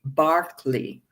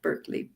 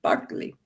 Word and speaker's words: Berkeley: in England, an Anglican bishop whose name is pronounced George Barkley, if you're British, not Berkeley, Barkley.